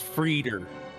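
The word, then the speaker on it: Freder: It's Frieder. It's Frieder? hamburger. Oh, Frieder. it's Frieder.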